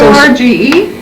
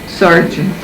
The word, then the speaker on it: Sorge: S-O-R-G-E? No? Yeah. All right. Sorge. Sarge. In Italian you pronounce it, in American you pronounce it different.